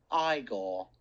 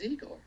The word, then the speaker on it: Igor: it isn't it's Frederick you must be eigor now it's pronounced igore but they told me it was eagor well they were wrong then weren't they my grandfather used